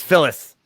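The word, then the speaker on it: Fillus: priest who is there phyllis it's it's not spelled like it's f-i-l-l-u-s it's it's phyllis uh it's a big jolly looking man uh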